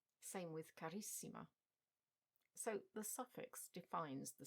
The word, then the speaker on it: carissima: Bella is stressed on the penultimate syllable, but bellissima is stressed on the first I. Same with carissima.